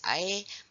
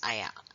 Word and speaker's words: air: In standard Malay, it's air, but in northern dialect, it's ayah.